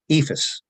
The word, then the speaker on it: EIFS: A case in point is in our home state of New Jersey and the surrounding states, EIFS, or EIFS, as some people prefer to pronounce it, is also known by the